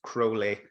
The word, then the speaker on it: Crowley: to first of all preface by saying it's cruelly and only because he he went to such great aims to make sure people pronounced his name that way um in answer to